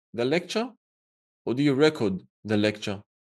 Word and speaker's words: record: Another example, when you record something, do you record the lecture or do you record the lecture? Well, record is the noun. Record is the verb.